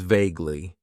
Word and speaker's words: vaguely: Then we have an adverb that I like to use, and that is vaguely. It has 2 syllables, and the stress is on that first syllable. Vaguely.